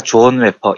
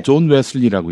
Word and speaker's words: 존 웨슬리: 히틀러가 미쳐서 유럽을 피바다로 만들려고 할 때 신학자 존 웨퍼, 이분 잘못 발음한 거라면서요.